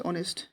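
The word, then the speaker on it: honest: লাগে তো আপু যদি ইয়াদ চাই অনেস্ট দিছে অনেস্ট অনেস্ট এস two silent হয়েছে মানে এস টু এ উচ্চারণ হয়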